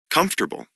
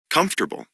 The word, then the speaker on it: comfortable: a listen and practice the vowel immediately after a stressed syllable is sometimes not pronounced average different separate comfortable interesting vegetable okay now listen again it's not pronounced average different separate comfortable interesting vegetable okay right